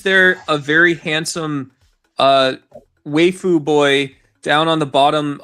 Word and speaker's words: waifu: What is wu? I'm just What the I mean, waifu. Yeah, it's pronounced waifu. Sarah, get it right.